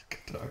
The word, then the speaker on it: Kattar: Qatar. Cater. I don't know which one's right now. Is it Cater or Qatar? Cater. It's Cater. Cater. For sure, Cater.